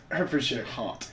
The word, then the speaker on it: Hertfordshire: Hertfordshire.